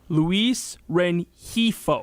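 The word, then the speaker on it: Luis Rengifo: So the pronunciation is Luis Renifo. Renifo. Okay. Luis Renifo.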